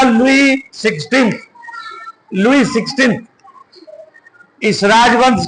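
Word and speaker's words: Louis: लुई English में लुईस इस type से लिखा है एल ओ यू आई S Hindi में उसका प्रोसेशन लुई होता है एस साइलेंट रहता है तो इस राजवंश के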